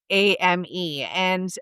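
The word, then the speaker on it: âme: It was brilliant, and in French, the soul is pronounced and ame, and she said shame.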